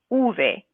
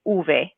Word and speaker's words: uve: look at v v so we can pronounce this either as v or uve so depending on who you're speaking with they might they might say this letter two different ways so for example i